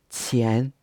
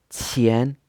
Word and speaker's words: 钱: This Q sound in pinyin is also another difficult sound to pronounce, so you might have to practice this quite a lot of times to get it right. 钱, 钱 is pronounced in a second tone where your voice is rising in pitch.